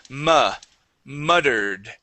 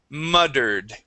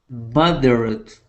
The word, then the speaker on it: muttered: Okay, we're going to use the same U sound here with muttered, muttered, Moderate.